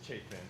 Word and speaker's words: Chetan: All right, our next candidate is Chetan, and I pronounce it correctly? It's Chetan.